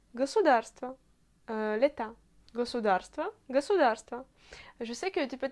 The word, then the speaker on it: государство: À Moscou, on prononce toujours tous les O inaccentués comme A.